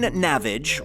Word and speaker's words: Navage: Henderson, Chelsea M., Jeff Baker, Bridget Porter, Aaron Navage, rhymes with savage, buy me a cocktail and try not to ravage, Patrick Connolly, Taylor Williams, and Funkasaurus Rex.